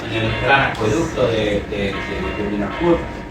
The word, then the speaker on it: Boulogne: el gran acueducto de Boulogne o Boulogne, como se debería pronunciar, de Boulogne, de todas las mejoras que le estaba llevando a la isla.